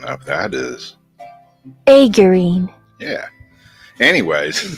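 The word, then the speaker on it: aegirine: you say that what is aine and the pronunciation of that is aurine yeah anyways aurine also known as acmite is a sodium iron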